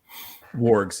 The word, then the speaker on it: wargs: up letters and sounds is it meant to be one noise or two wargs is how we say it generally yeah it works excellent